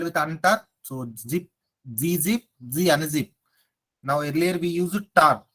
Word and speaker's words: gunzip: Is this gun zip? No, it's not gun zip. We have to call it as Z unzip.